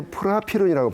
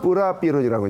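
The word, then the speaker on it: Prapiroon: 같은 태풍 이름인데 그때는 이제 프라피론이라고 발음했는데 2006년부터 원래 그 나라의 발음을 따라간다 해서 뿌라피론이라고 이제 바꾼 건데요.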